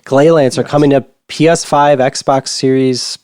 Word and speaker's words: Gleylancer: I keep wanting to say Greylancer, but Gleylancer coming to PS5, Xbox Series, PS4, Xbox One, and Switch October 15th, which is in 2 days.